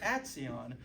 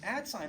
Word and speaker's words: Atsion: started working at Atsion, my mom would always pronounce it Atsion, and I would do the same until I started working there. And then I started calling it Atsion in front of my mom, and she got very upset with me because I committed treason or something for pronouncing it wrong.